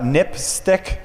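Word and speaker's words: NPSTC: safety telecommunications commission um which is pronounced uh nip stick which is kind of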